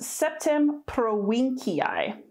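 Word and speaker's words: Septem Provinciae: aquitaine pretty simple this would be pronounced septim pro-winkeii so again a v that sounds like a w and a hard c septum prolinkii and again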